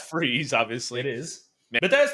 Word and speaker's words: Fries: Who about is Fries? They spell it like it almost looks like it's in the comic, and they spell it like fries, but it's Freeze, obviously.